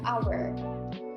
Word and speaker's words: hour: Contohnya, kata-kata yang berawalan huruf H, seperti kata honor dan hour. Kata ini berawalan huruf H, akan tetapi jika diucapkan tidak terdengar jelas bunyi huruf H-nya, melainkan yang terdengar jelas adalah huruf A.